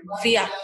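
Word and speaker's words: Vyak: Kalau tulisan aslinya itu adalah Viak. Jadi V-Y-A-K. Viak. Jadi kalau kita kan bacanya Biak, B-I-A-K, tapi kalau ini tuh aslinya tuh Viak.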